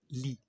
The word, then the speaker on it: lit: de mon lit. تف آخر الكلمة لا تنطق.